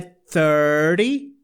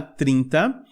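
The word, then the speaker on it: thirty: E aqui no número 30 também, esse T... como ele é antecedido por um R e depois o Y, ele meio que vira um flap, tá? Então a pronúncia é 30, tá? 30.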